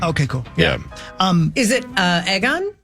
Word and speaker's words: Aegon: Oh, it's not that Aegon. It's Yeah. in between. It's egg, EGG. That's how it's. Okay. That's how it's spelled, at least.